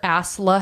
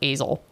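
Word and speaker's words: Asle: that one up because I thought it was AEL it's a l e that's fair AEL yeah no it's ASLA okay okay anyways the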